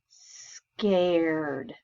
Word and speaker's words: scared: this is the word scared it's kind of a hard word because the a is a long a and it also has the are they're scared let's go